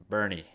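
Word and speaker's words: Boerne: Now, next we got 4A D1, number 3 Bourne versus number 2 Corpus Christi Cal Allen. Devin, I'm going with Cal Allen. Dylan, that was a very disrespectful pick. You know why? Because it's pronounced Bernie.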